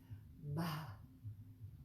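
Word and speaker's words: भ: The next, that looks like a BH, is actually one letter in the Sanskrit alphabet, and it's pronounced like this, ba, ba, with an aspirated sound.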